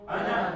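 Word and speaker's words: أنا: Ana is written as ana, but you never pronounce that alif. You just say ana, as if there is no alif there.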